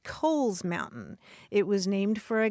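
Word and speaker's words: Cowles Mountain: that mountain c w L mhm I would pronounce it cow's mountain right right I know and that's that's my problem because properly that mountain is pronounced Kohl's Mountain it was named for a guy whose last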